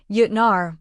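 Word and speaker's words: Jötnar: He used the German pronunciation Yutnar rolling the final R.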